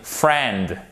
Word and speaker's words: friend: à coude la fraternité friend on ne prononce pas le hic c'est là ni d'accord je répète on ne prononce pas le hic c'est super important freinent sellami friendship l'amitié